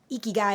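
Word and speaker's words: ikigai: to that diagram uh eeky guy is spelled like u i k i g AI uh anyone listening you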